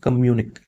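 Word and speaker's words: communiqué: कम्यूनिक इसका उच्चारण है कम्यूनिक।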